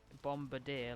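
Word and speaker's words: Bombirdier: have missed him well it's bomb because like it's a bomb it's a bird and it's a bombardier like Brigadier that's what it's based off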